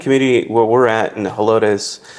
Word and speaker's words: Helotes: But in that community where we're at in Helotes, it's actually a Spanish word for Hispanics. I am butchering that word because if you live in that town, they pronounce it as Helotes, but it means corn.